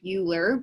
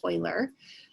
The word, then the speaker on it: Euler: do pronounce it i know it looks like euler but you pronounce it euler um and he just did a lot of